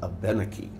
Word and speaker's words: Abenaki: She said, the correct pronunciation is Abenaki.